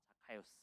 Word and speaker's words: Zacchaeus: 근데 정확하게 자카이오스가 맞습니다. 자카이오스. 자, 그 헬라어로 원래 자케우스에서 왔고 영어가, 그리고 그게 원래 히브리어로 자카라는 단어에서 왔어요.